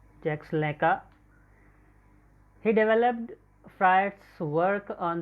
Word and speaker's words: Jacques Lacan: It is Lacan, but it is pronounced Jacques Lacan.